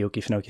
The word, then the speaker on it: Okefenokee: a company that's interested in licensing off the Okefenokee Swamp. That's how you pronounce that, right?